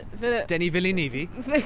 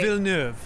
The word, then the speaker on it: Villeneuve: Because it's what's his name, Denis Villeneuve. Right. That's not how you say it. It's by the way. Villeneuve.